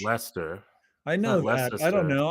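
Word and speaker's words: Leicester: It's not It's not Lester. It's Lester.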